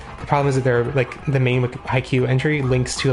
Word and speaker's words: Haikyuu: Oppose per page creator, and they use the kanji Haikyuu parenthesis volleyball. It's pronounced with a long U, so it won't hurt anyone to pronounce it correctly.